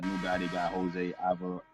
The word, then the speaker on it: Alvarado: Man, that new guy they got, Jose Alvarado. How you pronounce his name? Alvarado. Jose Alvarado.